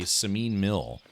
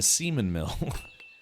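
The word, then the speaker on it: Semine: There is a lock uh there's a a practice cabinet down in the Seamine Mill. I'm sorry, I mispronounced that. The Seaman Mill.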